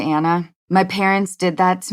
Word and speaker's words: Anna: my name but it is anna as opposed to anna my parents did that